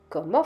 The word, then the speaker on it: comme: de sable pasons maintenant au mot suivant il s'écrit C o M m e et il se lit comme il est habillé